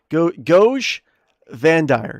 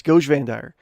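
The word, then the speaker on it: Goge Vandire: Goj Vandire. Yes, Goj Vandire.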